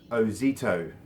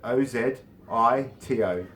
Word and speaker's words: Ozito: And just for those people at home, the brand is pronounced Ozito. So O-Z-I-T-O, Ozito. Not Ozito, not any other way, it's Ozito, okay? I have that on good authority.